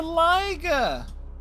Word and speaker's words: liger: It's the liger who rhymes with tiger.